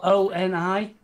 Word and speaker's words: Oni: It's spelled O-N-I? It is indeed. ONI-167. And he said Zion. You got Ion. Hang on, yeah, actually spell ION, O-N-I. That's O-N-I.